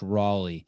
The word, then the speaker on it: Roelle: Griffin Roelle, pronounced Raleigh. Actually, I would say Roelle, but I watched an interview that Tommy did with him, and Tommy called him Griffin Raleigh.